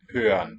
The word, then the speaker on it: hören: Hören. Think of it as a schwa, but just a bit lower. Yeah. A lowered schwa of hören.